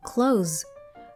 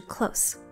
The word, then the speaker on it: close: 第三个，这个字当动词关闭的时候念成 close，如果是形容词靠近就是 close。